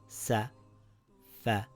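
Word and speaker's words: سَفَرَةٍ: Safaratin. Safaratin. There is a special case where a word that ends in the Taa Marbutah changes to a ha sound when we stop at the word, but we will learn this later on.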